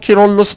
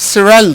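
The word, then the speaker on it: Kyrillos: get a man like pope quirolus iv or as it's pronounced in the west cyril iv suddenly out of nowhere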